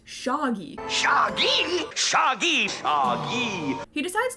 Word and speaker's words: Shaggy: of name is Shaggy except he pronounces it shogy shagy shagy shy he